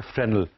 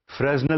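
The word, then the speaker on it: Fresnel: controlled होती है वो इज कॉल्ड फ्रेनल फ्रेजल लिखते हैं मैं लिख के दिखा दूं आपको उसके स्पेलिंग होते हैं एफ आर ई एस एन एन ई एल फ्रेनल है लेकिन ये एस साइलेंट इसमें यह एक फ्रेंच लॉर्ड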